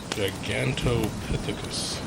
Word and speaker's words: Gigantopithecus: Can you pronounce that? Gigantopithecus. Yes. Pithecus.